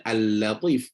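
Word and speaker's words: اللطيف: Katanya, kesalahan pertama adalah membacanya dengan tebal. Tafkhim ni tebal. Pada tempat yang sepatutnya dibaca dengan tarqiq. Contoh macam inilah. Al-Latif. Al-Latif. Baca sepatutnya Al-Latif.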